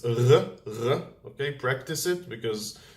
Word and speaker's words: ר: In Hebrew, it's more down here in the throat. It's r, r.